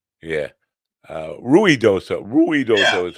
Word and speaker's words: Ruidoso: I I didn't go to Ridoso, but probably because when you look at the way it's spelled, I wouldn't have pronounced it like that. Yeah. Uh Ruid doso. Ruidoso is how it's spelled, right?